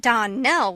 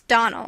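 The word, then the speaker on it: Donnell: dreams often is not as for that Don Nell woman she'll get no Don nelling from me I can assure you the name is Donal and always has been the woman is crazy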